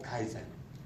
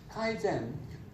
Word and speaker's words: Kaizen: So that's the 3 steps for Kaizen.